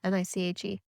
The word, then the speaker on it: niche: membership site or a niche membership site oh i saw a conversation people talked about how do you say that word n-i-c-h-e uh niche or niche yeah yeah is niche better now that's what everyone said